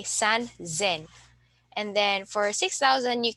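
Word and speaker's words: 三千: we have 3,000 so instead of sansen we say San Zen and then for 6,000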